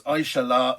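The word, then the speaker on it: Aixalà: So you pronounce the last A. So it's Aishala, sounds very Catalan.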